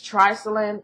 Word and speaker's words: triclosan: The other thing, this is a big thing that's I did a graduate paper on, is Triclosan. That's how I pronounce it.